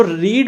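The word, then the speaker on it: read: एक चीज ध्यान रखना जो रीड होता है रीड रेड रेड ऐसे बोला जाता है लेकिन स्पेलिंग तीनों की से होती है ठीक है रीड मतलब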